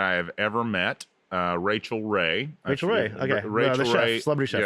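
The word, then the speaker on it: Rachael: these cooking shows and he used to say like um oh I really like this racial Ray girl but he was mispronouncing Rachel so I would think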